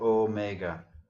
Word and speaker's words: omega: And then omega, again, it has the long E. It would be spelled with an eta there, so omega.